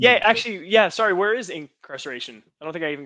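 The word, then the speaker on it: Inkcarceration: Incarnation. Incarceration.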